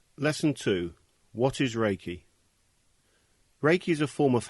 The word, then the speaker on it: Reiki: meaning universal life force although the proper Japanese pronunciation is raiki it has been westernized to Reiki Ray means Universal omnipresent present everywhere at the